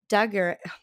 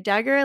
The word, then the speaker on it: Daguerre: into a whispering gallery, Daguerre, I don't know how to say his name, Daguerre, like daguerreotype, by the simple but all-abounding sunlight, has converted the planet into a picture gallery.